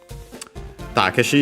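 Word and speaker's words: タケシ: Takkeshi is the Japanese name of Crocker. Uh the accent is on the first mora because uh yeah that's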